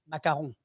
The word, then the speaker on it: macaron: which one you're eating it's only in english you say un in french we don't spell with two o's in english i know that's why you say oon in english but in french it's macaron okay for a little